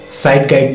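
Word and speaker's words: Zeitgeist: तीसरा जो पॉइंट था वो साइड गाइड बोलते हैं, या स्पेलिंग इसकी जिट जेस्ट होती है।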